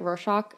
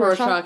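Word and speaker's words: Rorschach: think back to the how do you say it R shock I always say it wrong yeah I think R shock is correct R shock tests so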